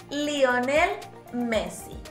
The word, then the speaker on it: Lionel Messi: Still, como él es argentino, since he's Argentinian, we will pronounce his name with all the vowels. Let's say it together. Lionel Messi.